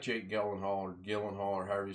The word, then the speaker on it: Gyllenhaal: It had Jake Gyllenhaal, or however you say his name, and I believe he was portraying a Marine.